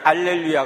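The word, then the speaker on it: Alleluia: 나오는 쉬움 바라 2h 다름은 발음 하지 않기 때문에 할렐루야 가 라틴 교회에서는 알렐루야 가 된 것입니다 아시겠어요 성경에는 할렐루야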